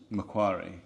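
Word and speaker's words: Macquarie: kough's Harbor or porch mcari well M see I always thought it was Mai but mcari is how everyone else pronounced it we SP p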